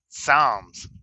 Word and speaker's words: Psalms: P is silent. Wait a minute. Let me look at it again. Oh, okay. I got you. Psalms.